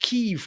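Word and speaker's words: Kyiv: like amaram you know kiev is pronounced keef now oh is it right it's kiev i think we're always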